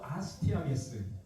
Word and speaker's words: 아스티아게스: 여러분 한번 발음을 해 볼까요? 아스티아게스. 아스트아게스. 예. 아스티아게스입니다.